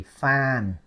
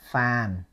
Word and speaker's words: Phan: the last letter only fan pH a n fan okay this one probably easier for you to pronounce and to say it right fan no accent level tone fan okay can you tell